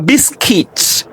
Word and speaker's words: biscuit: British English, a biscuit. The U is silent, right? Biscuit.